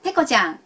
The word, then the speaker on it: ペコ: 牛奶妹的日文发音是 Pecco 酱，很多奶